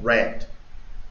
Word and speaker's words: read: aquí varía la pronunciación y el pasado se pronuncia red Como rojo si yo digo I